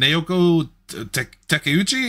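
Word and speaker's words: Naoko Takeuchi: names from Japan I know ha Miyazaki and naoko teuchi am I mispronounced that Lindsay yeah no you got it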